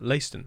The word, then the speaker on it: Leiston: I did notice on the diamond that Hambridge and Liston are now linked up. Yes, Leiston, that's it. I pronounced it wrong this whole time. MS Build decided to tell me that I've been pronouncing it wrong.